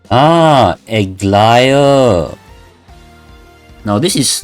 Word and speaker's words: Aglaia: I chose to pick Aglair. Am I pronouncing it right? O noble guest from afar, the wind brought me news of you along the golden threads. My name is Aglaia. Ah, Aglaia.